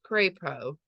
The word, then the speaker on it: Crapo: My last name is pronounced Crapo, but, well, it's a name that's spelled like the word crap with an O stuck at the end.